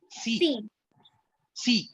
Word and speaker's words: six: ah the tra yes correct KRA sank c c c c set okay c z SE with new